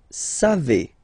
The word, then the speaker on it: savez: Then vous savez. Classic ending for vous, E-Z, but then phonetically it's E. Vous savez.